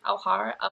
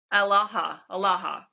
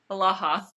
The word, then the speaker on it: Alaha: Alhara? Now I got to find it. Alaha. Sure. There's no R.